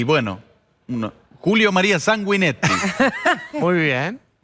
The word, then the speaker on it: Julio María Sanguinetti: Y bueno, Julio María Sanguinetti. Muy bien.